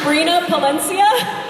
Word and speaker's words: Brina Palencia: voice actor for today's show minna points game butchered that much it's actually brina palencia so yeah I factors like jello in a